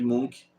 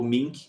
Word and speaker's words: Munch: E o Grito, de Edmund Munch, ou Mink, que é como se fala, mais tarde em reação